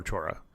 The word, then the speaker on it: Chora: Well, and that is possibly my favorite site in Istanbul, Saint Savior on Chora, Yeah. or Chora, depending on your pronunciation there.